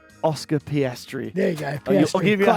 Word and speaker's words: Oscar Piastri: Pisari? Oscar Piastri.